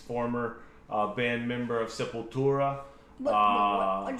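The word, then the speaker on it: Sepultura: Um, and uh, anybody who knows Max, former uh, band member of Simple Tura, why' you say it like that?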